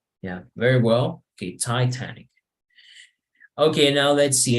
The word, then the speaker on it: Titanic: You need to check the T. Titanic. Titanic. Yes, so it's like like spitting the T. Es como escupir la T. Yeah, very well. Okay, Titanic.